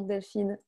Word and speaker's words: Delphine: Comment est-ce que vous prononceriez le prénom Delphine avec l'accent américain? Delphine. C'est très facile pour nous. Avec l'accent sur le « i » en fait.